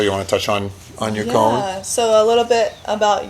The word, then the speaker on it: yacon: Taylor, you want to touch on Yacon? Yeah, so a little bit about Yacon.